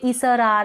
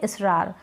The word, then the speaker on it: इसरार: का उच्चारण नहीं है, स को हम ज़्यादा खींच के इसरार ऐसे करके नहीं बोल रहे हैं, तो स के साथ यानी एस के साथ अ नहीं लिखेंगे, अ का उच्चारण नहीं हो रहा है, इसरार ऐसे नहीं बोलते, हम बोलते हैं इसरार, तो स खींच के नहीं बोला जा रहा तो सिर्फ एस लिखेंगे।